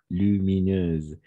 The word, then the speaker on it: lumineuse: simplement gay vive et lumineuse ici avec le Z d'accord lumineuse et j'ai eu immédiatement